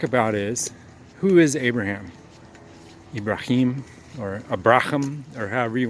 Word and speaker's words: Ibrahim: You call him, most English speaking people say Abraham, but it's Ibrahim is much closer. That's kind of how the Muslims would say it.